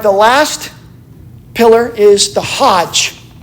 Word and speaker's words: Hajj: The last pillar is the Hajj.